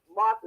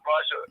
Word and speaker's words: Martha: I'll just say Sister Martha is a beautiful sister because we've been calling her name wrong all the time and she never corrected me. I know Brother Mark loved me, so it don't even matter. I know I've been doing Sister Marsha for quite a few years now.